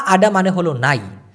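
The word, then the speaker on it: naik: ছায়া নাই বাস দেখছেন উচ্চারণটা শুনেন নাইক এভাবে কিন্তু বলি নাইক বলি নাই তো সেতিয়াপারি প্রতিদিন ছায়া নাই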